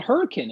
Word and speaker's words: Hurricane: ice activity although there is a town called hurricane in west virginia and it is pronounced hurricane excellent job yes uh i don't